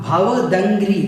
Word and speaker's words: भवदंघ्रि: भवदंघ्रि, दंघ्रि सरोरुहाणाम इसको बोलना है हम भवदंघ्रि। कुछ लोग इसमें बड़े कंफ्यूज हो जाते हैं कैसे इसका उच्चारण करें। तो भव अलग करना है, दंघ्रि अलग करना है, सरोरुहाणाम अलग करना है।